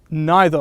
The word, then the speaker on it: neither: can't draw very well I used neither or neither both pronunciations are accessible like I said before